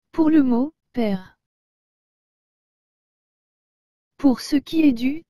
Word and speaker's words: père: et le mot père encore une fois comme le e à la fin ne se prononcent pas et que le e avec l'accent grave se prononce et ce qui nous donne maintenant le mot père en fait regardons ces